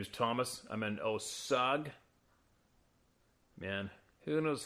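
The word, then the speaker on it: Osage: it here my name is Thomas I'm in osag man who knows how to pronounce this one o osag o s a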